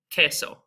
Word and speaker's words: queso: Cheese, we have queso, right? So you can hear that it's just like a K, and the U is silent as well.